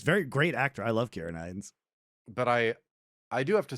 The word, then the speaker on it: Ciarán Hinds: No, Ciarán Hinds is how you say it.